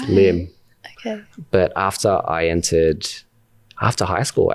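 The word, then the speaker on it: Liem: And my name is not technically pronounced Liam. It's Lim.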